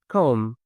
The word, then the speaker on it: comb: students might say claim, comb, crumbs, that and you can tell them like as a rule that every M followed by B the B is silent B for boy and